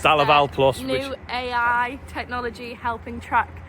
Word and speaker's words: DeLaval Plus: How do you pronounce it? DeLaval Plus. DeLaval Plus.